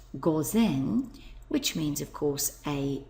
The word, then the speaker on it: 午前: Ki which means before we get midday before pronounced Goen which means of course A M before midday